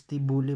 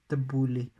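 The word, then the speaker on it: T'boli: nama data okay sometimes it pronounces t bully but actually it is pronounced as the bully that the bullies are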